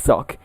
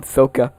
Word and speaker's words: Sokka: Yes, Sock. I am Sokka.